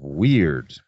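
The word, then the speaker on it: wyrd: And that all falls into the well of weird. And that's spelled W-Y-R-D.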